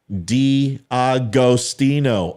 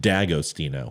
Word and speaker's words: D'Agostino: Technically, we pronounced it D'Agostino. Oh, boom. Drop the mic. Spear in with a win. Bam. I knew my Italians. Oh, wait. But she says, but Americanized, it's just D'Agostino. Whatever.